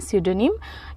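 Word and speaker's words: pseudonym: ओ एन वाई एम यहां पे पी लगेगा लेकिन पी जो होता है इसमें साइलेंट होता है तो इसको हम प्रोनाउंस करते हैं सिडोनिम यह भी एक संज्ञा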